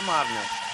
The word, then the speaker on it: Marnel: É Marnel, a pronúncia correta seria Marnel.